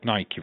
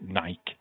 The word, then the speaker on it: Nike: You've always said Nike, right? That is how you say it. But in the UK, we call it Nike.